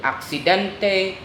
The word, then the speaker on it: accidente: So the words that ends in ENT and ENT are stressed on the next to the last syllable.